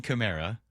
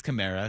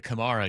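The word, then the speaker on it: Kamara: It's not positive it's Chimera cuz I was a Camarra guy, but now I've learned that the error of my ways, it is Chimera.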